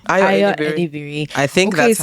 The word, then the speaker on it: Ayo Edebiri: It is Ayo Edebiri. Ayo Edebiri.